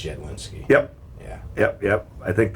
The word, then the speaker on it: Jedlinski: It's Jedlinski.